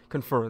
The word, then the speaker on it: confer: Confer, there we go. So that's how you say it, it's confer, not confirm.